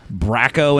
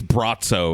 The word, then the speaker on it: Braco: for this dude uh I think it's bratzo is how they say it uhhuh a weird they